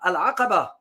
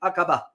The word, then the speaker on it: Aqaba: And there is another location there called Al-Aqaba, or in English, pronounce it Aqaba. In Arabic, the Ain is very profound. You pronounce Al-Aqaba.